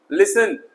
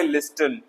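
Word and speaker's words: listen: लिसन ना के लिस्टन, सुनना।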